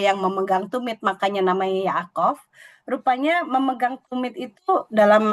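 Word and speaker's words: יעקב: Jadi kalau nama Yakub bahasa Ibraninya Yaakov karena ada yodnya di depan tapi di paling kanan kalau cara kita membaca.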